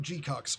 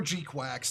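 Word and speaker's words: GQuuuuuuX: Mobile Suit Gundam G-Cux, or G-Quacks. There's a lot of different pronunciations. I say G-Cux because it's funny.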